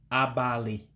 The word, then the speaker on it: abalị: So the I with the dot underneath is an E sound, but an E with a real high pitch, because remember, is a tone language, so what you say and how you say it really gives the meaning.